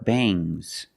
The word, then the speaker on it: bangs: about NG plus s when you have S after NG it makes the nasal sound um but it also makes a little G sound but not a hard strong these are bangs bangs there's a little goo but it's not bangs because it's softer veins I don't have